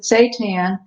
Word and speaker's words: seitan: make seitan um seitan it's spelled s-e-i sometimes it's hard to figure out how to pronounce it but we pronounce it seitan it's made from wheat